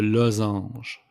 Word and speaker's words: losange: The diamond, it's le losange. Losange. The S is pronounced like a Z.